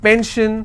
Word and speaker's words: pension: If I have pension, I will stress on pen.